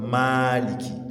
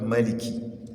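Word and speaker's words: مالك: So, the correct uh pronunciation in Hafs is what? Maliki. That is mad ma, not Maliki.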